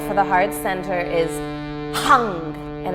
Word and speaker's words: hung: And the seed syllable for the heart center is hung, and it's spelled H-U-N-G with an overpronounced H, as if you're, letting out energy through that H.